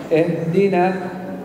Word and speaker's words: اهدنا: اهدنا اهدنا اهدنا اهدنا الهاء يجب أن تكون واضحة ولطيفة لا تقول اهدنا أنت لا تحارب ya kata beliau kita tidak serang perang ya nah. Jadi jelas tapi lembut jelas tapi lembut ya nah. تكون واضحة ولطيفة ولا تقول اهدنا اهدنا أين الهاء أنت أكلتها نعم لا تقول اهدنا ولا